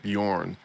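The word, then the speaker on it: Björn: it's not for sure it's like Bjorn it's like the B and J's merge I'm just gonna say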